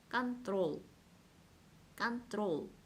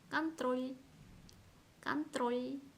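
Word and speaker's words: контроль: 이 뒤에 만약에 부드러운 기호가 없었다 그랬다면 이렇게 발음을 했을 거예요. 컨트롤, 컨트롤. 하지만 부드러운 기호가 있으면 이 롤을 부드럽게 발음을 하셔야 합니다. 컨트롤, 컨트롤. 들리시죠?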